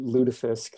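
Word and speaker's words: lutefisk: do i pronounce it ludafisk ludafisk is very much the upper midwestern way of saying this so ludafisk is uh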